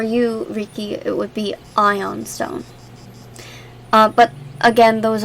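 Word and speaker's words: ioun: I can yeah um ion is spelled i-o-u-n oh some people spell it as lone stone l-o-u-n but I I think it's ion oh where is it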